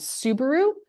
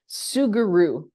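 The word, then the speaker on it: Sugru: get a substance called Subaru sugaru sorry I can never pronounce it right I keep wanting to say Subaru um sugaru it's kind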